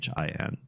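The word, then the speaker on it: 新: which is seen but they don't have the sound um that in Chinese would be spelled with an X in pinin which is like a it's like an sh but it's up at the front of the teeth but they've got something pretty close the sh sound in Raji sh sh i n is how they pronoun how they spell that they just took seene and turned it into sh and you get words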